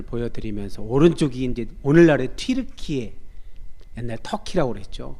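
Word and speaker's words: 튀르키예: 그때 이제 저 지도를 보여 드리면서 오른쪽이 이제 오늘날의 튜르키에 옛날 터키라고 그랬죠. 근데 정확하게 발음하면 튜르키에라고 해서 정정을 했더라고요.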